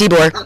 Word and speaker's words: Ybor: Yep, it's Ybor.